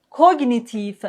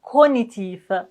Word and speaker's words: cognitif: gnou magnum diagnostique stagnant cognitif mais attention pour son mot on peut dire aussi cognitif cognitif cognitif toutes les pronon ciations sont possibles.